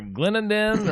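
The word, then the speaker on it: Clendenin: And I'm not really sure how you say it, if Glendinning or Glendenden or Glendenden. I'm not really sure. Just how you say it? Glendinning. Glendinning. Okay, and that particular place has been absolutely it's you can't even imagine.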